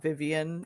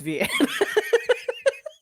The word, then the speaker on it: Vianne: I just discovered that her name was not Vivian and it's Vianne.